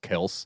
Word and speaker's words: Kelce: did you see that their last name is actually pronounced Kels? And their Kels, parents yeah. got so tired of correcting people, they just let it go. Yeah. it's Kels, but whatever.